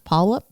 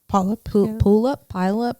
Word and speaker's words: Puyallup: It's Puyallup. Puyallup.